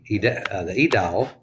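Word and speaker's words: aedile: Okay, next group, we have the Edial. Now, the Edial, we don't pronounce the A there.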